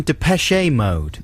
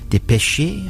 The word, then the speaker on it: Depeche Mode: when that happened and maybe that is more like the correct pronunciation i don't know because obviously it's a french word but dipeshi i'm not sure we